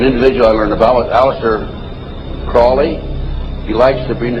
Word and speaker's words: Crowley: i learned about aleister crowley crawley he likes to be have his name pronounced crowley to rhyme with holy and uh the satanists